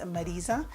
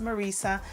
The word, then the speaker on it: Marisa: My middle name is Marisa. And in English, it would probably be pronounced Marissa.